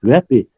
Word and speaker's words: Вяпе: Да, являются, потому что в Вяпе сегодня, в Абой, или Вяпе, правильно говорить, Вяпе, частично, которые входят в состав в Ингушетии, они сегодня являются ингушами, они говорят сами так.